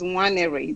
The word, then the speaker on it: Nwaneri: The last name is Nwaneri. The N is silent.